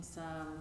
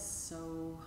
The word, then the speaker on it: So: hum on the exhale said to be the sound of the breath itself so try and blend